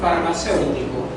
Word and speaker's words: farmacéutico: La palabra es farmacéutico. Farmacéutico. ¿Cuál es la sílaba tónica? Más fuerte. Farmacéutico. Cero. ¿Correcto? Última, penúltima, antepenúltima. Es una palabra esdrújula.